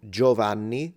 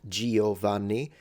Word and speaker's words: Giovanni: So similarly, there is an I in Boccaccio, but we don't say Boccaccio, just like we say adagio, not adagio, Giovanni, not Giovanni. Those I in Italian Not pronounced.